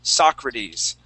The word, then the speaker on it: Socrates: I can't even remember, but the way it's pronounced is Socrates.